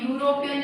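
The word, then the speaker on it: European: क्योंकि यूरोपियन जब हम बोल रहे हैं प्रोनाउंसिएशन हो रहा तो यह हो रहा, और यह क्या होता है? हिंदी का कंसोनेंट, ठीक है।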